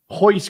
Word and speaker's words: Royce: His name is Royce Gracie. Starts with an R but pronounced with an H for an extra half point.